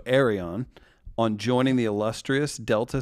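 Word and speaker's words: Aireon: Can you have Kym congratulate my daughter, pronounced Air-E-On, that's A-I-R-E/on, so Arion, on joining the illustrious Delta Sigma Theta sorority last week, please.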